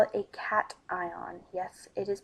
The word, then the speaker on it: cation: charged atom particle then we call it a cat ion yes it is pronounced cat ion so positively charged particle which lost electrons to